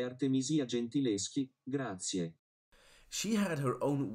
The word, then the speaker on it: Artemisia Gentileschi: La pronuncia corretta è Artemisia Gentileschi, grazie.